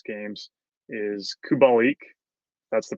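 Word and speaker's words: Kubalík: Because the other guy that I have been riding pretty hard the last 5 or 6 games is Kubalik. That's the pronunciation.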